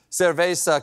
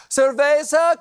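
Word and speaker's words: Cerveza: for the Chilean beer cesa Cristal I'm sorry I mispronounced that surva Crystal and that's not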